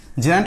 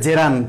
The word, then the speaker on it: gerund: gerund and participle, okay, gerund and participle উচ্চারণটা হবে gerund, হ্যাঁ, নট gerund, gerund and participle।